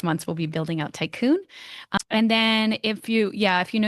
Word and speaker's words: Taikun: And we're going to be building out Tycoon, which is spelled Taikun.